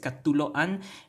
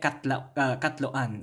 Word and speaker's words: katloan: You can almost hear it. It's katuloan, but no, we don't want too many syllables, so we just chop that one, delete it. We in the process of the morphological process of deletion, and we get katloan, okay?